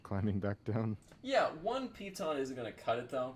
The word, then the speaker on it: piton: Could I use my payton? I think that's how you pronounce it. The little things you stick into the wall that helps climbers. It's a piton.